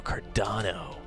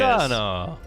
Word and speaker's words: Cardano: Do we not spell that right? Cardono? D-A-N-O. D-A-N-O, Cardano. There he is. Cardano.